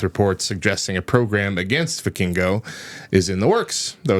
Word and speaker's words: Vikingo: Vikingo.